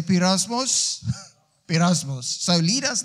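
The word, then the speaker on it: πειρασμός: And the word is pronounced pirasmos. Everybody say pirasmos.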